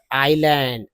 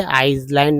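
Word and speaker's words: island: Easy way टू द आईलैंड, आईलैंड, इसको silent समझिए, आइलैंड नहीं बोलना, आईलैंड was not to be his, he must think of some other way of getting there.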